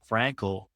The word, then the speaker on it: Frankel: I'm typically alongside co-host nutritionist Olivia Carone, but instead we got Daniel Frankel. Pronounce that correctly, right?